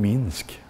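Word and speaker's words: Минск: jag fick fram att MCK det var egentligen Minsk mycket mycket ovanlig i Västvärlden men förmodligen massfluencer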